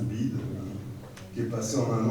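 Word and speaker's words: BYD: avec notamment une marque, je crois qu'on ça se prononce BID, qui est passé en un an de la 10e à la 5e position mondiale, etc., etc.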